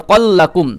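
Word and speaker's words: رزقا لكم: লাগিয়ে সা মিনাস সামারাতি রিজাল্লাকুম হ্যাঁ রিজ র জা জের রিজ কল্লাকুম কফ লাম জবার কল্লাকুম ওকে এখন এখানে জিম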